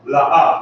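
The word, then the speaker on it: לא: La'a. La'a. Very good. Say it again. La'a. La'a is how you say no in Hebrew.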